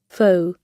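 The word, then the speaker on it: faux: of the Fall full I never foul it's not how you pronounce it foul left fake left I know but foul how do you pronounce this foe foe okay like most of the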